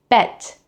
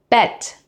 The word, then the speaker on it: Bett: Now with a short E, it becomes Bett, Bett, meaning bed.